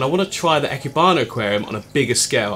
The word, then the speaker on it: Ikebana: built this ecke barn i think it's pronounced ecky barnett i've been corrected echibano aquarium for just some